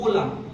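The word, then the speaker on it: hola: है स्पेनिश में कुछ स्पेशल केसेस में होता है लेकिन वो हम लोग बाद में जानेंगे बट दिस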